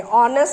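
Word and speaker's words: honest: ऑनेस्ट सुनाई देता है इसलिए एन लगाएंगे।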